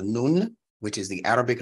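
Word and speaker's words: نون: Nunetics is from an Arabic letter called nun, which is the Arabic letter N, the letter N as in Nancy. Nun is how you say that in Arabic, and it has several meanings.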